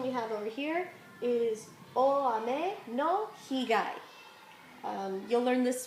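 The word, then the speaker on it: 円: one we've got is n uh you know we normally will say Yen when we pronounce it with that y but actually it's best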